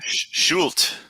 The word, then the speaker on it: Schulte: And how do you pronounce it if you were German? What did you say? Schulte. Schulte. But we have Schulte. Americanized it, Schulte Design Build.